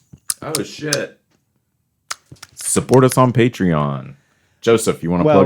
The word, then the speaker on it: Patreon: they, through, this is totally needs to be in this episode, but through, they have a, like the Patron, is that how you pronounce Alcohol? Patreon.